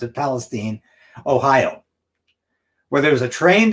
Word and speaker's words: Palestine: catastrophe that's occurring right now in East Palace Palestine and that's how they pronounce it Palestine Ohio where there's a trained derailment and these